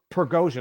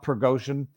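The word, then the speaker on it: Prigozhin: Saturday morning initiated by pergosian progosian I think is his proper pronunciation uh who is the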